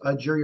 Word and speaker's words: Egeria: I didn't know if it was Egeria or Nigeria. I couldn't hear. It starts with an E and it's pronounced like Nigeria.